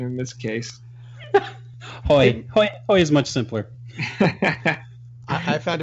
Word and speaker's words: Haughey: We should say our name is Haughey, and I'm like, it sounds a lot like the braying of a donkey to me. So I prefer the incorrect pronunciation in this case. Haughey is much simpler.